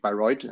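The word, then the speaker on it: Bayreuth: and the micrology group at the University of by roid and this is how you actually pronounce it but no worries here and I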